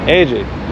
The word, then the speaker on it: Ece: AJ.